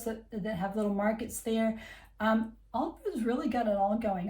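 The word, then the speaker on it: Aldeburgh: It looks like it's pronounced Aldebra, but it is Aldborough.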